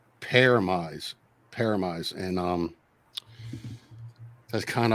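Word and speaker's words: Pyramaze: of my favorite albums is a band called paramise paramize and um that's kind of a uh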